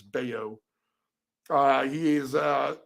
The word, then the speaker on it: Bello: they say his name every time I see it I say Bellow but it's bao uh he is uh